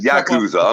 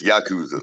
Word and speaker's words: Yakuza: you um to get in there you had Yakuza I'm sorry I mispronounced it it's Yakuza Yakuza Yakuza yeah yeah you had to chop